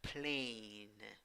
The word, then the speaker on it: plane: Vowel A with a hat. The last vowel, when you write it, does not sound. Pronunciation plain, plain.